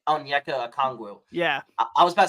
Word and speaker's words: Okongwu: Onyeka Okongwu.